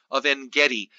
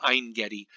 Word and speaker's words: Ein Gedi: from the vineyards of a Vendetti actually I think it's pronounced ein gedi henna blossoms common in